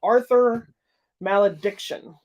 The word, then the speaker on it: Arthur Malediction: The next movie is a movie called Arthur Malediction.